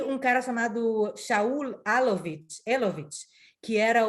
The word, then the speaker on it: Elovitch: Engraçado que a gente em hebraico fala Alovitch, mas eu vi que em inglês eles falam Elovitch, mas é Alovitch, que a gente vai falar em hebraico, como se fala em hebraico.